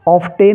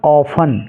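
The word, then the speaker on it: often: पढ़ना है ऐसे ही ओ एफ टी ई एन इसको ऑफ पढ़ेंगे ऑफ ऑफ टेन नहीं ऑफ क्योंकि टी इसमें साइलेंट है ऐसे ही एम ए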